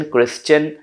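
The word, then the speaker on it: Christian: आई ओ एन या एस टी आई ए एन में एस का साउंड अलग रहेगा टी आई ओ एन या टी आई ए एन को चन पढ़ेंगे सजेन क्रिश्चन डाइजेन राइट लेकिन अगर एस ना हो तब टी आईओ एन या टी आई ए एन को शन पढ़ेंगे जैसे नेशन स्पेक्युलेटिव पढ़ा रहा हूं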